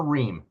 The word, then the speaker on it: Riem: Ree.